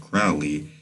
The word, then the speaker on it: Crowley: In fact, Crowley, his name rhymes with holy, says that every intentional act is a magical act.